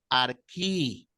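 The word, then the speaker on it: ἀρχή: la transliter como J pero la pronunciación griega es más como una una una K suave Arqui en arí esta eta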